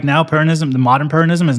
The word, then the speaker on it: Peronism: So the big change came with Perón and, how do you pronounce it? Peronism? Peronism, yeah.